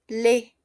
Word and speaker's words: laid: Aquí tenemos le, ¿ok? Le. Es decir, no pronunciamos la D.